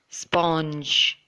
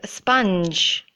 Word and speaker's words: sponge: And a lot of you might be pronouncing this word as sponge. But that is in fact wrong. It should be pronounced as sponge.